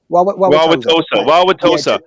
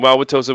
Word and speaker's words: Wauwatosa: We're talking about the pronunciation of Wauwatosa. Wauwatosa. It's very Dean. cold in Wisconsin. Wauwatosa, Wisconsin.